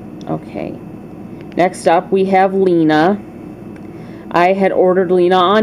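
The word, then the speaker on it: Lina: It's spelled L-I-N-A, Lena.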